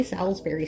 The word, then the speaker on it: Salisbury: Now, I know some people pronounce it salsberry steak, but I don't I don't know why. I'm in Michigan. Maybe it's a geography thing. I don't know, but we say salsberry steak.